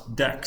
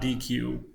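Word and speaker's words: deque: and I've been told this is pronounce deck not DQ which is confusing to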